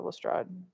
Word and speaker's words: Lestrade: Both pronunciations of Lestrade are valid. Going with the French roots, it would be pronounced to rhyme with Todd. But the way that Arthur Conan Doyle pronounced it, it rhymed with the parade. So Lestrade. Or the strayed.